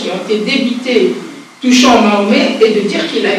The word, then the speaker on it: Mahomet: Mais au XVIIIe siècle, le nom du prophète se dit en français Mahomet, proche de la prononciation turque Mehmet.